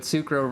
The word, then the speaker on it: S'crow: realized that Reading Rainbow that sucro rhymes with rainbow and sounds very similar you see anyway do